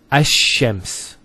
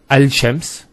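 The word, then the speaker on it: الشمس: So it's Ash-Shams, not Al-Shams. Because notice when you say Al-Shams, it's not smooth. Rather than Ash-Shams, which flows and is nicer to hear.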